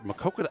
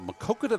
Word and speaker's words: Maquoketa: vality fans who are makoka I keep I keep adding extra syllable I'm sorry about that the makoka valley fans who are